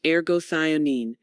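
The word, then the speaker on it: Ergothioneine: Ergoionine, pronounced argoionine, is an amino acid derived antioxidant found primarily in certain mushrooms and a few rare plants.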